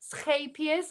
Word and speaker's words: Scheepjes: So this is, gosh, Scheepjes. I was told you pronounce it.